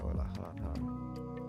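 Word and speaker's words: Euler: How do you say oiler? Google how to pronounce.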